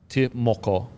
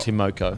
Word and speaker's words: Timoko: So, I think how you pronounce it is Timoko. Yeah. Not Moko. Timoko. Okay. Again, correct us in the fucking comment section. Could be wrong, but I think it's Timoko.